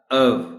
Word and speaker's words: of: इसको बोलना है ऑफ, ऑफ, ऑफ, यानी एफ की साउंड इसमें है ही नहीं। हम इसको इस तरह बोलते हैं ऑफ, हालांकि ऑफ जो वर्ड है वो एक और वर्ड है जिसके स्पेलिंग है OFF। अब दोनों को तो ऑफ नहीं बोल सकते। This word is ऑफ। वी, और के बाद वी साउंड बोलनी है, बल्कि जब रवानी में आप अंग्रेजी बोलते हैं तो फिर ऑफ भी नहीं रहता, अव हो जाता है।